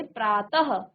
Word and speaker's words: प्रातः: कहा जाता है और इसका उच्चारण आधे ह की तरह आता है, ठीक है ना। जैसे हम यहाँ पर कह रहे प्रातः, तो के बाद हमने ह का उच्चारण भी किया, नमः तो ह का